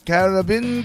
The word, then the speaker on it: Caribbean: Pronounce it like he does. Caribbean Queen. That is a great tune. It's three syllables when he says it.